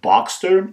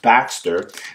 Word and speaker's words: Baxter: know it's spelled b-a-b-x-tr some people think it's the Boxster but it's actually called the Baxter and that is because